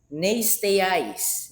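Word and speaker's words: νηστείαις: And then the next word, nasteiais, nasteiais, A-I-S, the last syllable.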